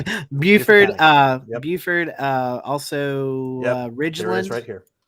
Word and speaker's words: Beaufort: I know I pronounced Beaufort it wrong. County. Buford, Yep.